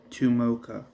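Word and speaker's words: Tomoka: what to say about chimoka but his name is spelled t-o-m-o-k-a to mocha so yeah said to mocha as he held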